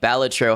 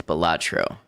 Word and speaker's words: Balatro: A lot of people hit that A sound hard, pronouncing it like Ballatro. However, the title is taken from a real Latin word meaning joker, and the correct pronunciation for that is Ballatro.